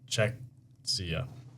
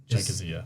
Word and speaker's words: Czechia: Oh, it's Czechia. Czechia. Is the Prince on Great Britain? I pronounce it.